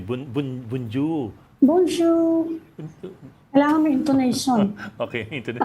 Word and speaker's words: bonjour: Pronunciation. Bun bunju. Bonjour.